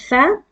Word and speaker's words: ث: Now in this letter, this is th, as we pronounce it thin in English. Actually, it is pronounced as thin.